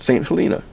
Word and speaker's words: St. Helena: Yes, I know there are several ways to pronounce that, St. Helena, and so on, but we're going to pronounce it St. Helina.